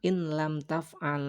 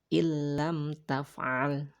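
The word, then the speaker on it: إن لم تفعل: Maka dibacanya bukan in lam taf'al, akan tetapi dibacanya illam taf'al ya, illam taf'al, tidak ada dengung sama sekali ya.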